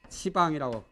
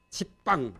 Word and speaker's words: 시방: 이것도 시방이라고 하지 집방 안 하거든.